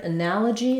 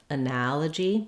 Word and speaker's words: analogy: So in the word analogy, we have second syllable stress, and the letter A says the A vowel, just like in that or cat.